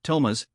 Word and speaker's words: Thomas: shouting his name in the Apache way, Thomas, with the emphasis on the second syllable, making it sound like music rather than speech.